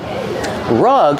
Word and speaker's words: rug: Rug has a short uh sound like cup and up.